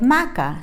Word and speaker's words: maca: way to remember is vaca rhymes with maca so you know it's